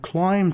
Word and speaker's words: climb: fruit and they sometimes climb trees this is not claimed be is silent they climb trees they